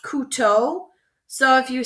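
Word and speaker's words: couteau: on how to pronounce this one so it's pronounced K to so if you say C like you C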